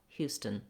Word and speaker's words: Houston: A vowel, no clear vowel in this second syllable. You just want it to be an unstressed, short little schwa. Houston, stun.